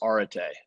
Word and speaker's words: arete: It's a Greek word. It's arete is the pronunciation of it. And no, that takes away the meaning. It means excellence. It means to flourish, and it gives reference to the quotes there.